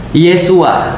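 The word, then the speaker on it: ישוע: Hebru ee Yesus itu disebutnya sebagai Isa atau Yesua. Jadi kalau misalnya di dalam ee di dalam Katolik pernah dulu saya diajarkan Yesus itu bahasa Ibra bahasa Ibraninya adalah Yesua.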